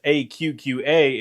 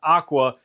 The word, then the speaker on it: AQQA: yes it is pronounced aqqa it's not Aqua like most people pronounce it here's proof an email